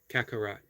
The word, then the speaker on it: Kakarot: Runner Boy says, say it like Kakarot. Kakarot. Kak or cock? Kak. I'm going to go with kak. Kakarot.